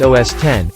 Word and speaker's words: OS X: macintosh computers or macs all recent versions are known as os x pronounced os 10 and the specific versions